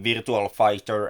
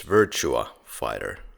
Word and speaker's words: Virtua Fighter: He's voice acting in Virtual Fighter and Tekken series. Good God, you should repronounce that. It's Virtua Fighter, no L there.